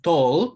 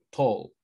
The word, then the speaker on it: tall: Acuérdense, tall se escribe con una A, pero se lee como una O, tall. ¿Sí? Acuérdense muy bien eso. ¿Sí? No digan tal, tal, no, mal, suena tan feo, tal, he is tal,